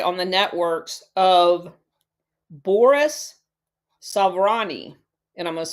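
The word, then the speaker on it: Souvarine: also to rely on the networks of Boris Savani and I'm going to spell that last name s o u v a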